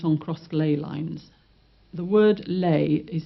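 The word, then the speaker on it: ley: The word lei is spelled L E Y. Chlay, burn, lay land. And if anything is built on lay lines, it's prone to electrical, magnetic, paranormal forces.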